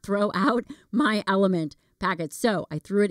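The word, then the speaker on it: LMNT: That's Element, and it's spelled L-M-N-T.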